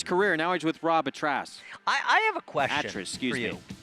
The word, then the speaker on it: Atras: Now he's with Rob Atras. I have a question excuse for you. Me. I can't figure out how to pronounce it either, but it's Atras like mattress.